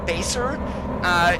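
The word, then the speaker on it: BESR: but it's spelled B-E-S-R, so Baser is how I'm gonna say that. I don't know if that is proper or not, but you can go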